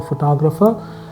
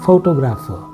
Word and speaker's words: photographer: If you see the word photography, the person who does photography is a photographer. You will see the syllable stress slightly moving to grapher. Okay, photography, photographer.